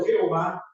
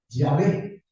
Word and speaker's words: Yahvé: a la conclusión que la pronunciación no es tanto Jehová sino yahvé ahora la pronunciación de